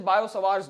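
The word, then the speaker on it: Biot: इट्स the correct pronunciation is बायोस लॉ।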